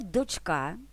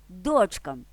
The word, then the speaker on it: дочка: дочки кого дочок кому дочка тощо тут запам'ятовуємо що в однині наголос у слові дочка та у сполуках із числівниками 2 3 4 на другий останній склад у формі множини та кличного відмінка на перший тепер знов до